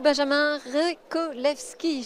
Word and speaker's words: Benjamin Revcolevschi: Très bien, merci beaucoup Benjamin Rekolewski. J'espère que je le prononce correctement. Parfaitement, merci d'avoir été à vous.